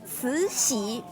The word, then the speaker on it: Cixi: Yeah, this lady is called Empress Dowager Cixi. We call it Dragon Lady. Cuéntenme si ustedes pueden pronunciar eso porque yo no puedo.